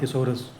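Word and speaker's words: thesaurus: इसको तोड़ दो द और सोरस और इसको प्रोनाउंस करो सोर्स।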